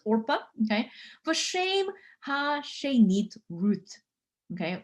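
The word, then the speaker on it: עָרְפָּה: Accents tend to fall, or the stress tends to fall at the end of Hebrew words, Orpa.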